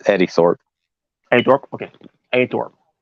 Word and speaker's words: Eddie Thorpe: It's Eddie Thorpe.